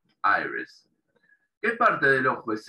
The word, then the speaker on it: iris: parte del ojo transparente se escribe igual en español e inglés pero en la iglesia pronuncia aires si la del comienzo se pronuncia como ah y aires que parte del ojo